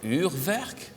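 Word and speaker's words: Urwerk: This is, now let me see if I can pronounce this correctly. Uhrwerk?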